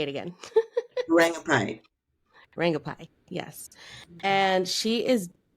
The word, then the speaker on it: Rangubphai: Rangubphai.